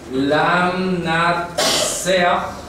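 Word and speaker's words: לַמְנַצֵּחַ: Bien, voy a copiar las tres palabras, la pronunciación en hebreo. Lam Natsea.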